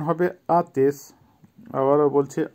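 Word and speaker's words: отец: আতেশ, আতেশের বাংলা হবে পিতা বা বাবা, ইংলিশে ফাদার বা ড্যাডি, উচ্চারণ হবে আতেশ। আবারও বলছি আতেশ।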